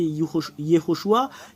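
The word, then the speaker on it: יהושע: vous de voir mais la vraie prononciation du nom de Josué c'est Yehoshua quelle est la raison parce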